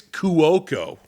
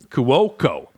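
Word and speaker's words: Cuoco: look it up because I always say her name wrong it's kuoko kuoko there a lot of vowels and only two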